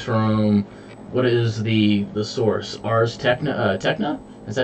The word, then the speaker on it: Ars Technica: Ars Technica? Is that how you pronounce it? Technica? Ars Technica.